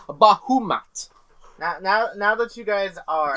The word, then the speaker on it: Bahamut: And some of the centaur shamans have summoned Bahamut. Or sorry, a Leviathan. Not Bahamut himself, but a Leviathan. Name Bahamut. And now that you guys No. are You're saying it wrong. It's pronounced Bahumat.